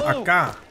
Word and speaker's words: Acre: Alright, so it's pronounced Acre.